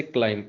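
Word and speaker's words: climb: इसी तरह से क्लाइम, इसके एंड पे बी है लेकिन ये साइलेंट है।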